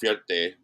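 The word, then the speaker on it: fierté: And it's called Fierte.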